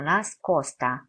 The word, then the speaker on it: nascosta: 일반 적 으로 'S' 는 이중 자음 소리 이지만 , 좀 더 부드럽게 발음 해야 합니다 . 그러니까 "risposta", "nestaro", " nascosta" 처럼 발음 할 때 , 이중 자음 처럼 들리지만 , 실제로 노래 할 때 는 더 부드러운 'ta' 소리 에 가깝다는 것 을 기억 하세요 .